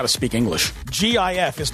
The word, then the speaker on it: GIF: posted on Twitter a gif of hymns of sign an effete it's pronounced jiff no it's not it's not it's not peanut butter okay it's a gift